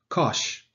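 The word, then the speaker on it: cosh: this one is pronounced kosh in the british environment um but it is pronounced kosh in america as in kosher so it is kosh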